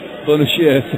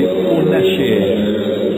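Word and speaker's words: Fonacier: There's a foul on the play, and it's Bonacier, sorry. I've been assured that the pronunciation of the number 12's name is Larry Bonacier.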